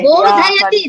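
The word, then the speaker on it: बोधयति: It is Bodhayati. Yeah. Alpaprana. No, Bodhayati.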